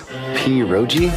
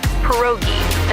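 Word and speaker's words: pierogi: Poi. Did I pronounce that right? It's pronounced perogi.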